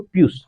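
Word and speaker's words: pious: लो एक दारू बोतल पी आई ओ यू एस पीयूष हालांकि स्पेलिंग तो व्यू हो जाता है उसे आई के जगह लेकिन हम करते हैं उसको पीयूष पीयूष एक क्या कैसा लड़का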